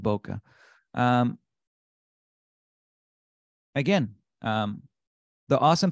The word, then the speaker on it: bokeh: and we can add bokeh Boca bokeh I think it's uh people pronounce it Boca um again um the